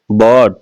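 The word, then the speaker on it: bought: बॉट, इसमें भी देखिएगा जीएच साइलेंट है।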